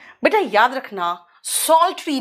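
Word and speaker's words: psaltery: बेटा याद रखना, सॉल्ट्री, पी यहां पे साइलेंट है।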